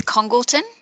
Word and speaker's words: Congleton: I'll begin by asking whether we're pronouncing your surname correctly. It is Congleton. Congleton, thank you very much.